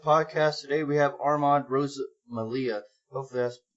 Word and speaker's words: Rosamilia: Today we have Armand Rosamilia. Hopefully that's pronounced that correctly. Nope. Oh. Rosamilia.